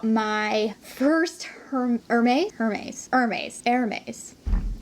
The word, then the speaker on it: Hermès: first mermaid hermes hermes air maze how do you say it hermes that's how you say it guys hermes i looked it up so we're gonna talk